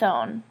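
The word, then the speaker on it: -one: e that's pronounced own looks like one but it's pronounced own so sweet smelling chemicals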